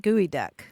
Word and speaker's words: geoduck: Here in Olympia, we have the Evergreen State College, and their mascot is the gooey duck. The Which is gooey kind duck. of a giant clam. Yeah, that's Geoduck, right? Gooey duck.